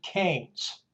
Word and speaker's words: Keynes: this gentleman John Maynard Keynes uh pronounced as c-a-y-n-e-s had a profound effect